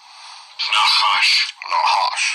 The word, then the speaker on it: Nahash: Nahash. Okay. Nahash.